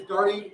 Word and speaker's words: Darty: We have Shannon Moore, who is the principal consultant at Darty Business Solutions, because Darty rhymes with party, and Anthony Algmin, who's the Convergence platform lead at AbbVie and author of the Data Leadership book.